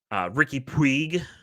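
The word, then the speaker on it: Riqui Puig: We had Christian Arango, Christian Benetecchi, Ricky Puig.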